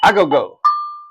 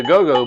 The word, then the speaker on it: agogo: Agogo. We Americans say agogo, but agogo.